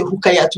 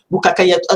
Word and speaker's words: Rukayatou: qui intervertissent parce que moi, c'est Rukayatou. Il y en a qui m'appellent Rukakayatou.